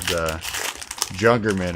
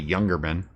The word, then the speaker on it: Jungerman: We have, like I said, we have that street around here called Jungerman, and every time some fake Scandinavian tries to pronounce it, they say Youngerman.